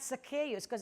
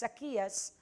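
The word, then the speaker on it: Zacchaeus: the life of zacchias it's not zus buse I I find the right pronunciation in greek word It's zias and is is the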